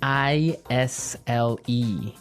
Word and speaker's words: aisle: spelled so strangely right we don't pronounce the S the S is silent that's true Isle so